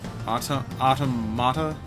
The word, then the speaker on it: Automata: There's a debate on Gwitch, please, between automata and automata. The emphasis is on the second syllable, automata.